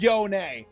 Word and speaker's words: Yone: It is Yone. That's how Yasuo pronounces it.